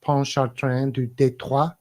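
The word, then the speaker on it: Pontchartrain: to be known as Fort Pon chartr that's a bit of French pronunciation for Kristoff in the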